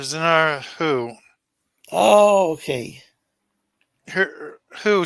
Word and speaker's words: Hu: this is uh is this the new Doctor Who or I mean not newest no her name is Dr zenar Who oh okay who who spelled hu ah well it was kind of